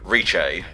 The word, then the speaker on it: Rice: Pulseman's nickname for her is Rice, pronounced Riche. That's not how you say rice, actually. Riche sounds like a completely different type of food when you think about it.